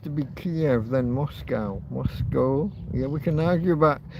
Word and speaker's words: Moscow: Yeah, we can argue about See, the way Americans pronounce Moscow. The word ends with C O W, so they say cow, but we have that scup. So, it's mo and then O.